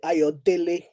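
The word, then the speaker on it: Ayodele: And Latif Ayodel or as we would pronounce it, Ayodle, what that surname actually means is joy comes home, right?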